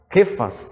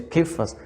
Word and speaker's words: Kefas: Kefas, né? Se pronuncia Kefas, é com K, né?